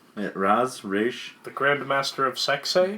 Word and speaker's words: Ra's: Oh, the Grand Am I pronouncing it Master right? of Ra's the al Ghul. Raish. Yeah, Raish.